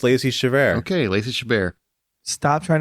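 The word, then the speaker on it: Lacey Chabert: uh many people don't know that Meg from Family Guy was actually voiced by Lacey chabaran oh yeah yeah chaver Chabert is that how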